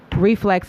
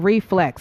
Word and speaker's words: RifleX: So listen, guys, make sure you follow Reflex at I Am Reflex. So it's spelled I Am RIFLEX.